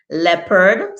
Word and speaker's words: leopard: we then also have jeopardy sounds like geoparty leopard sounds like leopard and people that's why